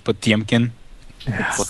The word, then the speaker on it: Potemkin: Also, Kelly, it's the correct pronunciation is Potemkin. Oh my lord, are we really going to do this? Hello. Less emphasis on the po, and then there's like a temp, like not like a C.